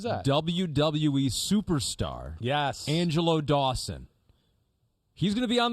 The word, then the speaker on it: Dawkins: My co-host thinks your name's Dawson.